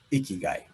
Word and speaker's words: ikigai: i i he guy that's what they how they say it icky guy i'm sorry ikigai is